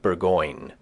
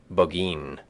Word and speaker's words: Burgoyne: Nutting had a famous foxhound named Burgoyne. He pronounced it Boggeen, which my informant used to borrow.